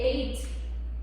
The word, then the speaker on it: eight: Por exemplo, o número oito, que é eight, né, gente? Ali não sai um H, mas tem um H nessa nessa palavra, tem um G nessa palavra.